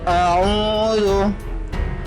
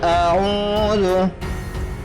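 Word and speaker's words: أَعُوذُ: Pada ayat pertama terdapat mad asli ataupun mad tabi'i karena huruf ain berharakat dhamma bertemu dengan waw sukun. Dan setelahnya tidak bertemu hamzah, sukun, wakaf, dan tasydid. Cara membacanya panjangnya 2 harakat.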